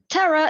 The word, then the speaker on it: terror: Terror is a 2-syllable sound, and usually the tendency is to be stressed on the first syllable.